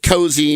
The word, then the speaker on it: Cozi: He created his own label called Cozy Music, C-O-Z-I. I got that pronounced properly, I think, Inc.